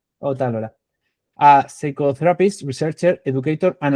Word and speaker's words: Ot'alora: How do you pronounce? Ot'alora. Ot'alora.